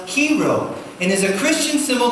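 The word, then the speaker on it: Chi Rho: yeah that's actually an ancient symbol that is pronounced kero and is a Christian symbol consisting of the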